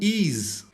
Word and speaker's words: EES: Então o EES em inglês é pronunciado como ease.